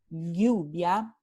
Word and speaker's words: lluvia: En norte y centro de España y en partes de los Andes, la pronunciación se corresponde a este fonema lateral palatal ya, lluvia, lluvia.